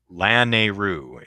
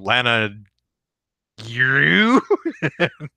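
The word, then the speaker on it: Lanayru: Laneru is how it's pronounced. Okay. Yeah, I guess I'm yeah, that's got to be it, Chaos. Thank you, because I look at it as La Na. I'm trying to put YRU into the same syllable and it just doesn't work. I keep going Lana you.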